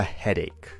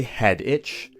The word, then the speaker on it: headache: say, I have a headache. Be very careful to pronounce this word correctly. We don't say head itch, we don't say head atch, we say head ache.